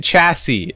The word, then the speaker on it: chassis: The third S is silent. What? Oh, simple machine chassis, not chassis.